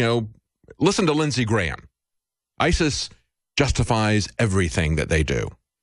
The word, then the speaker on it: ISIS: talk to Wayne about Isis you know it rhymes with crisis we got trouble right